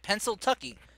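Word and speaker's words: Pennsyltucky: Pencil Tucky? Is that how it's pronounced? Yep. Okay. Well then. Whenever you're ready. All right. Let me just grab a drink of water. Yeah, Pencil Tucky. So somehow a combination of Pennsylvania and Kentucky.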